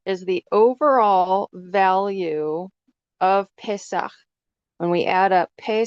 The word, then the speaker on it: Pesach: it's a connected arch, that one has the more ch sound at the end. So I would pronounce this, it's read right to left. So Pe, Samek, Het. I would pronounce it Pesach.